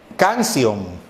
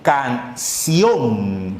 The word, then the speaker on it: canción: Canción. Pero, ¿cuál es la pronunciación de esto en sí? Canción. ¿Cuál es la sílaba que suena más? La sílaba que suena más es ción.